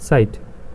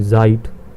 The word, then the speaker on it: Zeit: german which means time when we read it sight sight not english like zeit sight so you you see the sound is for s but it's sight and s is similar